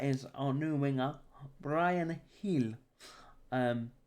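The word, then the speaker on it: Gil: our new winger brian hill um spelt jill pronounced here but we won't go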